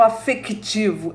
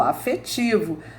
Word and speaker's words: afetivo: eram escritas assim afetivo Eu não falo afectivo eu falo afetivo antes era adopção do